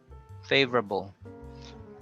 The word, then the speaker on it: favorable: So you connect the V and the R. Vra. Favorable.